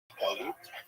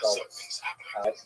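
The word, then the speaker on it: גלות: but the word exile in Hebrew, galut, or in the Ashkenazi pronunciation, galus.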